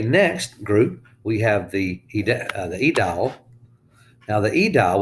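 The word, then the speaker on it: aedile: Okay, next group, we have the Edial. Now, the Edial, we don't pronounce the A there.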